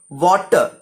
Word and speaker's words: water: In the word water, for example, wa is stressed.